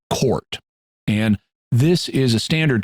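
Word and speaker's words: CORT: The Reincarnation type or c-o-r-t which is pronounced court and this is a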